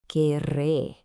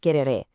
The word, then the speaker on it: querré: It's not quereré, it's querré, and you kind of roll those R's a bit.